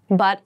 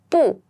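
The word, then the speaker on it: 不: of BU notice that bu can be pronounced in two different ways and when it's by itself or comes before a first second or third tone then it's pronounced as po how however if it comes before a fourth Tom it switches to the second Tom bo bo I know it seems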